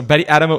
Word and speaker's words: Adamou: Betty.Adamou, is that the right way to pronounce it? Yeah, perfect. So Betty.Adamou is the founder of Research Through Gaming.